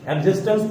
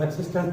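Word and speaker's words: existence: TNC है, एग्जिस्टेंस पढ़ते हैं इसको, एक्सिस्टेंस नहीं, एग्जिस्टेंस पढ़ते हैं।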